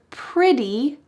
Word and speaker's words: pretty: She says the word pretty with a D sound. She doesn't say pretty. T, even though there's a T, in American English, that T will change to a D sound.